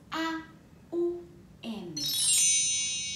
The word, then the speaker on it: Aum: Y es con las letras A, U, M. Aum.